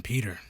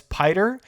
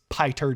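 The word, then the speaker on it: Piter: uh pyter DeVries it could have just been Peter no it's spelled p-i-t-e-r so I have to assume it was actually Peter but both of the movies have pronounced it as pider so I have to assume that Frank Herbert's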